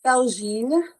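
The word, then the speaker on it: Felgines: Yeah, it's French, so it's Felgine. There's an Okay, S at the end, but you don't pronounce it.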